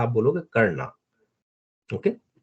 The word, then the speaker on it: कर्ण: Okay, वैसे कई जगह बेटा इंग्लिश में ए लगा देते हैं, लेकिन अगर आप हिंदी में पढ़ोगे ना, तो वो जो लास्ट वाला ए है उसको शायद प्रोनाउंस नहीं करोगे आप, तो आप कर्ण बोलोगे केवल।